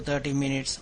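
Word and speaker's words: thirty: For 10 to 30 minutes on and off. Don't forget with that TH sound, like 30 minutes, the tongue needs to be between your teeth when you pronounce that particular sound.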